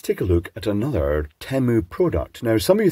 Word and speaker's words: Temu: I say Temu because that is how that combination letters would pronounce in Queen's English, as in temperature, temperamental, even tempura, which is Japanese.